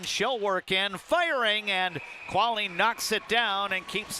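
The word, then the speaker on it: Kvale: viewable on YouTube as Quali Real Estate brings you the instant replay. Again, the spelling between the two a little bit different. The Quali real estate instant replays KV A L E.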